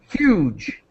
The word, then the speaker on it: huge: And this is the synonym huge. Huge. Not not hack, right? Not hack. No. Uh, huge. Huge.